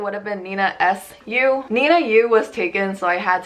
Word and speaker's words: ninaeyu: How do I pronounce my username ninaeyu?